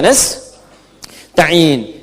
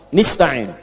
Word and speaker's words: nasta'in: Ya, iyyaka na'budu wa iyyaka nasta'in. Ada yang baca pakai kasrah, nista'in. Ya, nista'in ini bacaannya dari Bani Asad, Rabi'ah dan Bani Tamim. Tapi kita baca harus menggunakan fathah. Kalau untuk kita.